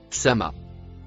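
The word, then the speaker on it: السماء: Il se traduit correctement par les mots ou bien le mot en bleu se prononce sama. Voyons le dico. Définition du mot Sama dans sourate 79 verset 27. Racine sumou source Sama.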